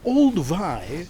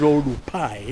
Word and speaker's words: Oldupai: So the gorge was mispronounced Olduvai by the first German man named Professor William Kurt-Winkel. Must be Wazungu, I huh? tell you, the German man, can you imagine? Can't pronounce things properly. Could not really call it Oldupai.